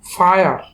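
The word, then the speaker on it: fire: নিয়ম হচ্ছে আই এর সাথে যদি আর এবং ই একসাথে থাকে সেক্ষেত্রে আই এর উচ্চারণ হবে আয়া, ফায়ার।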